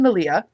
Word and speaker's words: Malia: right so she and Malia if you don't watch I'll cut you up they had taken a which is Malia is rhymes with Maria by the way um